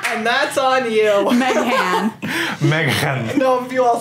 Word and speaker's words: Meghan: There's also an H in Meghan, and I don't pronounce it. And that's on you. Meghan.